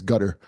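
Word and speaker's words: Qatar: I can't IM gutter that's how you pronounce it by the way it's gutter the nation of gutter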